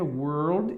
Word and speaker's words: world: é mudo só que aqui você fala Word Word normal World E aí aqui muitas vezes as pessoas não conseguem pronunciar que tem que falar world world então é diferente de